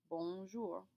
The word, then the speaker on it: bonjour: into one word bour there are two tricks to pronouncing this word the first is that o n in the bong it's a nasal sound which means the air is going to come from your nose rather than your mouth in order to